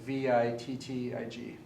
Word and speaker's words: Wittig: take with a V Vic like vit TIG it's spelled the Wittig but you don't say what taking C mythic okay